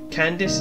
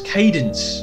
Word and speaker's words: Cadence: see what it was candice is that is that you pronounce it can dense cadence cadence thank you for now